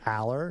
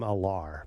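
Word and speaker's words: Allar: one I said Aller I think it's Aller yeah but a lot of people call him alar because it's spelled like that so this is an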